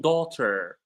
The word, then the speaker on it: daughter: It's like the gh in daughter. So you can notice that the gh in daughter is silent.